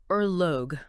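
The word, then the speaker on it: ørlög: The central term is erogue. Erlo, pronounced roughly erog.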